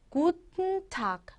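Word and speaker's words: Guten Tag: 인사말 구튼 타이라는 거죠 구텐탁이라고 많이 하시는데요 발음을 굿타 굿타 이렇게 하시면 조금 더 유창하게 들리긴 합니다 자 그러면 우리 오늘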